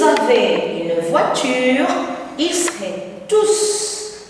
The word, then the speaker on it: tous: S'ils avaient une voiture, ils seraient tous à l'heure. Très bien. Avec un S prononcé, madame.